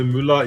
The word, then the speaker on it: Müller: Just think of trash in German, Dion, and you're fine, right? Trash is Müll, so you can say Müller easily.